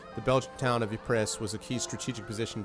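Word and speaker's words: Ypres: gas wonderful stuff really e pre a town in Ruins dubbed wipers by British troops due its difficult pronunciation the belg town of epress was a key strategic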